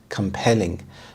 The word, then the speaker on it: compelling: Compelling, compelling. The stress is on the second syllable, compelling.